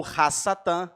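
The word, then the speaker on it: הַשָּׂטָן: Satã do antigo testamento ou rass Satã Como se fala em hebraico justamente pelo fato de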